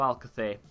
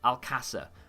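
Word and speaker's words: Alcácer: I know a lot of people say like Alcacer, and I think that's the way that the British people say it. If you can't speak Spanish, I can't speak Spanish, but you might as well try and say it the way that the locals say it, right?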